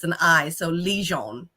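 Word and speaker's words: Ligon: uh l-i-g-o-n so people always call me like liggin or lagon or Lagoon or a ligan things like that but my last name is actually pronounced legend or Legion because it's an eye so Legion not Legend because lay is Le but I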